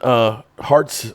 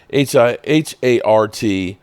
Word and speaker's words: Hartitz: So here's where Ian Hartz, I think that's how you pronounce it, Hartitz, okay, Hartz, had posted this in Twitter.